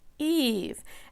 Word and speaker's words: Eve: And this is a name where she has the E, another letter, and a silent E pattern, making her first letter say E in her name. So notice that that is a different vowel pattern, but her name is Eve.